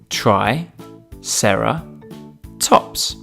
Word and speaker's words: triceratops: today triceratops try sarah tops can you say it with me try sarah tops let's learn all about